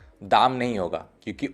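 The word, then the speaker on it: дом: Same like गोद, यहाँ पे भी वही फॉर्मूला अप्लाई होगा, ये होगा दोम, दाम नहीं होगा, क्योंकि ओ वहाँ पे एकमात्र भावल है।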